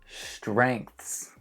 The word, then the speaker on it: strengths: Next one, really difficult, strengths. The combination of consonants, NGTH, I can imagine is really hard for people to learn to pronounce.